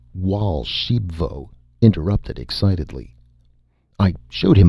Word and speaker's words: Archambaud: my golden goose and raoul archambaud pronounced wall shebvo interrupted excitedly i showed